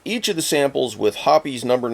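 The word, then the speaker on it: Hoppe's: of the samples with hoppies number n bore solvent for 60 seconds yes hoppies is the correct pronunciation guys I called it hops for years but I was wrong anyway all samples held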